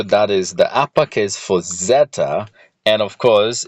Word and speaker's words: Zeta: this is our next letter we've just written Zeta that's how it's pronounced and the next letter is ETA now